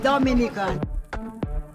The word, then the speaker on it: Dominica: it's rum punch time oh we call it Dominican it is spelled D o m i n i c